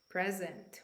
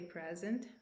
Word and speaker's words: present: have a noun and we will pronounce it present which means a gift so despite my age I always expect a birthday present from my family when I pronounce this word differently as in present here I have a verb so present means